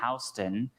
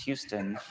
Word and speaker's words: Houston: the NoHo, which means north of Houston, which is a New York incorrect way to pronounce Houston.